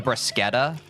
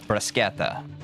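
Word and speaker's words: bruschetta: Italians pronounce it with a K sound, but it honestly doesn't matter. The brasqueta. So, Italians do the briseta.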